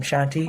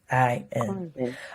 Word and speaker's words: Khruangbin: This next artist, I don't know how to pronounce their name. Shanti? Khruangbin. Squat? Khruangbin. It's Khruangbin.